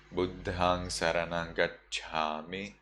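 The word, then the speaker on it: Buddhaṃ saraṇaṃ gacchāmi: In Sri Lankan pronunciation, in the international pronunciation, you would say Buddhang Saranang Gacchami, Dhammang Saranang Gacchami, Sanghang Saranang Gacchami.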